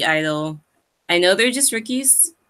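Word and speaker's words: (G)I-DLE: My pick was Silent G Idol.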